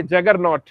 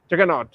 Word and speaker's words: जगन्नाथ: तो इसलिए क्योंकि वो लोग तो प्रोनाउंसिएशन तो उनका बनता नहीं है, ब्रिटिश एसेंट है ना, तो जगन्नाथ जी को वो लोग बोलते थे जगरनॉट, जगन्नाथ।